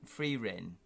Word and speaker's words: Frieren: Just went to an exhibition of the recent heroic fantasy hit Farin, pronounced Frieren, German for cold, about the titular Elven